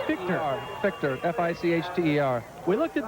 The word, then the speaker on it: Fichter: F-I-H-T-E-R, but pronounced Fichter.